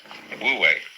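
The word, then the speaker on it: 無為: So the transitional word, which shows the way from to realize De in one's life, this is pronounced, this one is Wu, and this one is Wei, Wu Wei.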